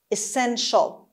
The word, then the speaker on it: essential: خب essential میبینید اینجا ای اول ای تلفظ میشه، ای کوتاه. استرسش روی اس هست essential، و ما این آخر TIAL رو به شکل ش و همراه با شوا میخونیم. پس essential نگیدا. Essential.